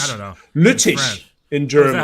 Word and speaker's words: Lüttich: Lutich. I don't know. Lutich in German. That's how you say it? That's how you say it in German? Lutich?